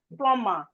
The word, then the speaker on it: plumber: We have plumber. The B in plumber is silent.